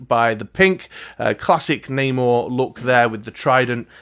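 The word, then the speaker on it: Namor: it is neymar or namo neymar i've never been fully clear how to pronounce that i'm gonna go with namo uh this is the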